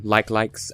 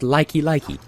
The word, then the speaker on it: Like Like: likes as a child I thought there's no way it's supposedly pronounced like like so I could consider it as a possibility but I thought no there's no way that all in that it must be pronounced likey likey not even like a like a but likey likey and so that's what